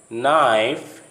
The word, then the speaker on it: knife: If a word begins with KN, the K sound remains silent as in the following words coming to your screen. Notice knee, not, knife, night, no, knowledge.